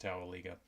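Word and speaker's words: Towaliga: the tell Eagle River I think it's pronounced Towelie go there's a grist mill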